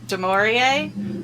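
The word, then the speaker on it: Du Maurier: Jack goes to Hannibal's therapist uh who they pronounce her name in one of these episodes and it's de maurier which I wonder if they've her name is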